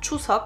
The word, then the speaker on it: Chuseok: Alors déjà je vous écris juste ici la version française, enfin en tout cas romanisée, et la version coréenne, donc ça se prononce bien Chuseok.